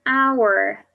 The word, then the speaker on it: hour: house a house an hour in this case our una at the beginning of our is silent a house it starts